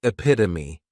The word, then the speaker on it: epitome: Next is epitome. And this noun has four syllables and the stress is on that second syllable.